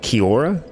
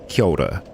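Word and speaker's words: kia ora: Zealand which is Koda some people say it Kiora but the the proper pronunciation is Koda uh it's got a little bit of a roll in there but that's what I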